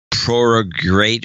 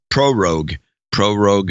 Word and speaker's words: prorogue: And they're trying to prorogate or whatever it's pronounced. Prorogue, even though they tend to take this time off anyway, according to all the experts.